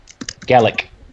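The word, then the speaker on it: Gallach: Galak. G-A-L-L-A-C-H. Torah. T-O-R-A. Or something Whoa, like that. slow down there. Slow down. Just Galak. You're Galak. a half elf bard. Malik and Bard. like it. Galak.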